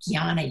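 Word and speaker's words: jnana: next path is called gyana yoga and it's spelled j-n-a-n-a and that is the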